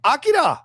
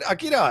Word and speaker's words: Akita: Real like Akida, right? Akita, as Emma F once taught me how to say it.